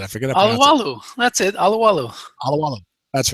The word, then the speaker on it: Alualu: Anyway, we all know who we're talking about, but none of us can pronounce it. I forget. Alualu. That's it. Alualu.